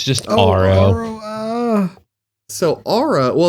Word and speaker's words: Aro: Arlo. Arlo. Yeah. The main dude. Arro. Arro. There's no L. It's just Arlo. So, Aro.